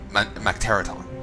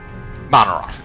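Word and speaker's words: Mannoroth: It was contaminated regardless with the blood of Macteraton, or was it Macteraton? I'm saying his name wrong. Let's find out. Manarot.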